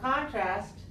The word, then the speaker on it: contrast: Chinese come true right so contrast can be both a noun and a verb and usually we use it with the stress on the first syllable where we're making it as a noun so contrast as a